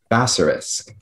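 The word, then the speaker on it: bassarisk: Basorisk. That's the only pronunciation.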